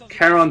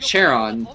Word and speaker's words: Charon: how do you pronounce it? I usually pronounce it Charon. Charon boosters.